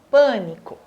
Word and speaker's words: pânico: pânico olha lá ó sílaba forte é o pan pânico e aqui eu tenho